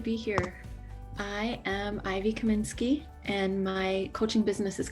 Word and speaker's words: Kaminsky: With me today, we have Ivy Kaminsky. Am I pronouncing your last name right?